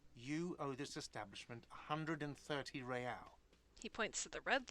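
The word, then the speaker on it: réal: you owe me 130 real pronounces the r with a mock aristocratic accent the i-i-r or into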